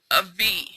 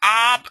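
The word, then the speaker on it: אב: dab in the middle, it changes the B to a V. It still means father, but it turns the ab into an av.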